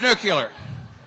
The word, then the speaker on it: nuclear: It's nuclear.